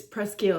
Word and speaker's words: Presqu'ile: today's video is day number two of the presel it's presel I confirmed that that's how you pronounce it uh 2023 Pino Noir from Santa